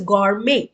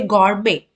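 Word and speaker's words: gourmet: the next word is God May so you usually don't pronounce t you say God May so means export of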